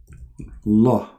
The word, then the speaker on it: Allah: If we pronounce the name of the God of Islam, it is like this. Allah. Al in Arabic today is equal to the. La is the name. But this is in Arabic today.